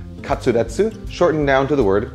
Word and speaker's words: katsu: classic japanese comfort food the word comes from the Japanese pronunciation of cutlet katsuu shortened down to the